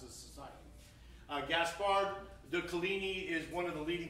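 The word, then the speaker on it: Coligny: you can say french i've been taught it's kalini but who knows but some say coligne however you choose to pronounce it that is the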